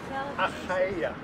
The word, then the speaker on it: Achaia: Did I say it right? Yeah. Achaia. Achaia. That's how you say it.